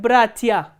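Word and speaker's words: братья: For example, look at the word bratia. Here stress is on the first syllable, not on the ending.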